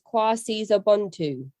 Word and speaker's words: KwaSizabantu: So that pronunciation is quasa bondu.